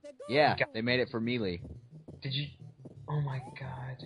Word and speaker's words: Melee: He said Giga Bowser, and then you said Melee. The announcer says Melee. He doesn't say Melee. So then why do you say Melee? Because it's pronounced Melee.